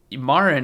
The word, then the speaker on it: Marin: So Marin is how you say your name, right?